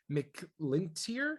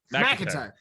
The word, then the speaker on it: McIntyre: see if I can pronounce his last name right, Patrick McLintier? McIntyre? Close, McIntyre? McIntyre.